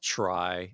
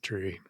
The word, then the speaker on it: trie: anyway uh it's pronounced try and I I find that disappointing I've heard people pronounce it both ways but it's very confusing when people pronounce it tree so yeah I think